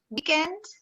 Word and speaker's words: weekend: Is it weekend, weekend, stressing the first syllable, or weekend, weekend, stressing the second syllable? If like me, you hear that is the first syllable of the word.